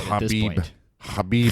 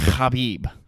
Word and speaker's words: Khabib: bit more sense Habib we got to start pronouncing his name right Habib Habib he he's cemented his legacy enough we have